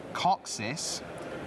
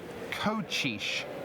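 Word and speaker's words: Kocsis: it turns out that K CS i s coxis apparently not it's pronounced coish coish gabo coish okay um because apparently CS is CH H and S equals sh in Hungarian there's a lot more shush and sure than I was expecting so there we are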